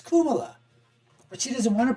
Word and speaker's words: Kamala: who's endorsing Kuma yeah Kuma is how you pronounce it right it's not Kamala in the Hindi dialect or the Indian South Asian dialect it's kumala but she doesn't want